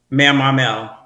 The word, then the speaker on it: Mamaw: So it's It's not it's Mama. Is that how you say it? Mamaw.